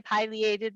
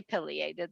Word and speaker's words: pileated: the ear by a pileated woodpecker so unless you say pileated that's fine too because they're both acceptable pronunciations just don't call them a pleated woodpecker those are found in